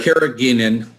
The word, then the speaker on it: Carrageenan: So we've got a lot of people asking about the how do you pronounce that, Dr.? Carrageenan.